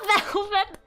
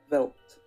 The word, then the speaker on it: veld: It's not velvet! It's veld! Wait, hold up. Let me, like, put the pronunciation. Velt. Velt! Okay, guys? This is what Google says. I believe them. Google? When did Google ever fucking lie to me? Belt? Stop! It's not belt! Blame the Dutch.